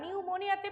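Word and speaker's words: pneumonia: বা নিউমোনিয়াতে পি উচ্চারণ হয় না।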